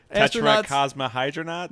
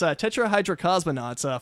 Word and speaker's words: tetrahydrocosmonauts: bringing up only because Pat always mispronounces it. Pat, what's the one that's with the four astronauts? Tetracosmohydronauts? Nope, that's not it. Damn it. It's fucking awesome. Yeah, it's tetrahydrocosmonauts, 4 astronauts who get